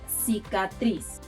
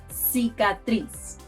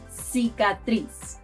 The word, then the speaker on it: cicatriz: The best example to illustrate the difference is the word cicatriz. Cicatriz. Cicatriz. Scar. In Spain, people pronounce the soft version of letter C as th.